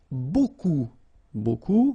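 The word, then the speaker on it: beaucoup: Remember, you don't pronounce the final P. Okay? And then you get this combination of vowels u A and you get the sound O.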